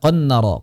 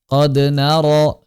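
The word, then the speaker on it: قَدْ نَرَىٰ: dolu qod naro ah jangan sampai dibaca qon nararo qon nararo qod naro qod naro ya dal dalam riwayat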